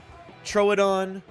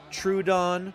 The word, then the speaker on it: Troodon: right way to say troad on well I mean there's there's various ways tomato potato throw it on true Don true Odon I've heard dinosaur paleontologists say all three of those in fact